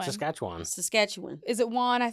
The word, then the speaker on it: Saskatchewan: Saskatchewan. You say it fast. Is that right? Saskatchewan.